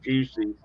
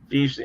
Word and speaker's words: fusil: I always thought that was fusil or fus. It's actually fusy is if you pronounce it French, which is where it comes from. Look that up and it says right here, fusy.